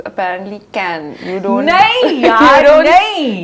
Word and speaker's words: Cannes: Oh, That's what they say. Can. It's can.